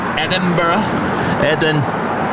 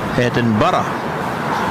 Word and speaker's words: Edinburgh: Edinburgh. Yeah, but you've got to start off with Eden and then Borough and then combine them together and go Edinburgh. Edinburgh.